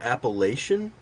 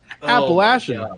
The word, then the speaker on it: Appalachian: are you from Tennessee I am and you pronounce it appellation okay listen stop Appalachian sorry my bad you know okay actually I